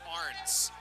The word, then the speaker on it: Ahrens: Justin Arns, by the way, his last name is spelled A-H-R-E-N-S, but it's pronounced Arns.